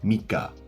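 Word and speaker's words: 三日: Next, we have mika, where the reading ka is used.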